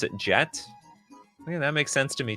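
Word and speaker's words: Jecht: It's actually pronounced jacked like ejected.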